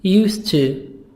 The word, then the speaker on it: used to: Used to, the silent, used to, plus infinitive. Used to, plus infinitive. When I was a child, I used to get up early. Used to get up, T, soft D.